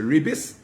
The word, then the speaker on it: ribbis: Again, the Hebrew word for interest is a ribis, R-I-B-B-I-S, or in the Sephardic pronunciation, ribit, R-I-B-B-I-T.